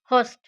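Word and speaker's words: Holst: Vitamin A बी और D McCallum, vitamin C होस्ट, L silent है, होस्ट।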